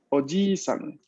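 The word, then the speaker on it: おじいさん: Doble I. ¿Qué sucede cuando vemos una doble I en japonés? Lo mismo que en el ejemplo precedente. Vamos a pronunciar la vocal larga.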